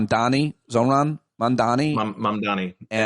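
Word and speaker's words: Mamdani: name Donnie Zon Mandani mom Donnie like the the easiest way to think of like mom like hi mom and Donnie like mom Donnie Donnie against who's like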